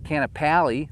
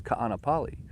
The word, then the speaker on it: Kaanapali: lahina right it's lahaina it's not canapali right it's kaanapali it's just those little